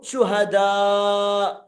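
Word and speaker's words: شهداء: ഒരു വാചകം ശ്രദ്ധിക്കുക പിന്നെ ശുഹദാ ശുഹദാ നല്ലോണം നീട്ടണം കാരണം എന്താ അവിടെ നീട്ടാനും ഉണ്ട് പിന്നെ വരുന്നത് ഹംസയാണ് അപ്പൊ നീട്ടാൻ വരുന്നു പിന്നെ ഹംസയും വന്നാൽ നല്ലോണം നീട്ടണം നല്ല നീട്ടണം പിന്നെ സ്വാദിഖിൻ സാദിക് അല്ല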